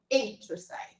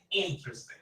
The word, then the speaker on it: interesting: to speak more okay is the stress is on the first syllable so interesting interesting yeah it's like we